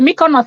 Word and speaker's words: Mykonos: she living I beg how is this one pronounced she said my corner this is the Mykonos where you see the Hollywood celebs that's the one yeah Mykonos wow okay yeah the world is a small